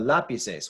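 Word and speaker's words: lápices: doing this before, but if we were to make this plural and we had lapises, now this syllable that's stressed right here is the third from last. It still breaks our rule, so we do need an accent mark still.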